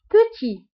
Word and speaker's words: petit: بالنسبة للكونتخير او الضد نتاع grand هو petit. petit بالنسبة للمذكر، و petite بالنسبة للمؤنث. دونك بالنسبة لpetit ما كنطقوش تي، وفي الفيمينا كنطقوها، كنقول petite.